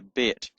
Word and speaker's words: Bet: So when it's got a hard sound with the dot in it, signified by the dot in it, it's pronounced B. So it's called a Bet.